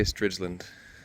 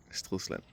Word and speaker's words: Stridsland: Okay, yeah, speaking of pronunciation, I say STRIDSLAND. People say STRIDSLAND, some say Barbra Streisand. In Danish it's called STRIDSLAND. STRIDSLAND, yeah.